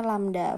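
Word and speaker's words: λ: V sama dengan lambda. Ini bacanya lambda.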